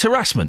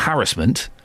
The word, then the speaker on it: harassment: It's harassment, isn't it? It's harassment, not harassment.